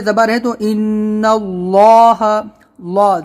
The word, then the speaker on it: اللہ: ہے تو ان اللہ، اللہ زبان کو ہم اپنے یعنی پیچھے کی طرف موڑیں گے، اللہ اللہ ایسے موٹا کریں گے، منہ بھر کے آواز نکالیں گے، ان